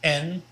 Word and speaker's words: en: means and it's pronounced n pretty much like the letter n but make sure you get a short e on there so n depend in